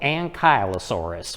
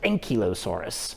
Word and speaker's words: Ankylosaurus: Of course, here in America, some people call it Ankylosaurus, but over in the UK, they pronounce it Ankylosaurus, and I believe that's the more proper pronunciation.